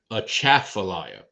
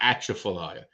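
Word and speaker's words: Atchafalaya: is actually uh yeah a chat for liar emphasis on the second syllable not not atrophilia that's how we know you're not from around here if you say atrophilia then we know second syllable remember that y'all heard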